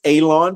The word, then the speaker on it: Alon: My name is Alon, pronounced like you're going to cut grass, like you're going to cut a lawn.